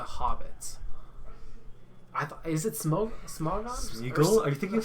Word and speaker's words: Smogon: It's Smogon. Is it Smogon? Oh, it is. I'm There is an pretty N. sure yeah. Okay, It's Smogon. I thought it was It's Smogon.